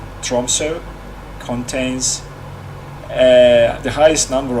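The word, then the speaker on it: Tromsø: upfront tip the city center of tromso i believe that's how it's pronounced that o is uh pronounced as o tromso contains uh the highest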